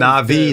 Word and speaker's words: Na'Vi: It's a complete team wipe from Na'Vi just off of Na'Vi.